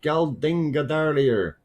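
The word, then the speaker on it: Geldingadalir: No, Geldinga earlier.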